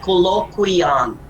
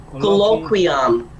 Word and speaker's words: colloquium: this is not pronounced as okay it is pronounced as colloquium colloquium all right research colloquium do you get me